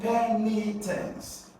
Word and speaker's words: penitence: So here, third syllable to the end, penitence. So you're going to stress P-E, alright? So you're going to stress what? P-E, P-E, okay, then you have knee, and then you have what? Tense.